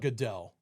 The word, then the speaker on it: Godot: It's nutty, and because it's got like a full, is it Godot or Godot? How do you say? I call it Godot.